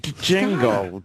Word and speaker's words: Django: You got to pronounce that That's P. like Django. Django. Django and pneumonia.